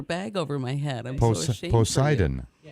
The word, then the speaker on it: Poseidon: Is it Posidian? Posid. Oh my goodness. So sad. No offense, but that's pretty common knowledge. Poseidon. Poseidon.